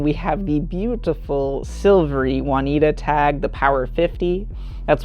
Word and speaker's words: Juanita: how you pronounce it it looks like one eta but everyone says it like juanita um and so really